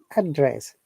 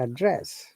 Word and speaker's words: address: possibly were not there if the it is one single syllable then the sound is same if it is a by syllable then for the noun we stress on the first part of the syllable first part of the syllable and for the bar we stress in the second part for example address and